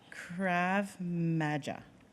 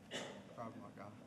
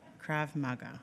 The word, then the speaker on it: Krav Maga: Outside of work, he enjoys practising, I'm going to say this wrong, Krav Maga. - Krav Maga. - Krav Maga.